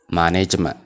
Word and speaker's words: management: Management T hin jennu held goona. Management jennee pronounce goona jechuudha.